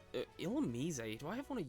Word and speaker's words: Illumise: And yes, I am calling it that because that's what it's pronounced like in the anime, so... Yes, I do apparently have Illumise.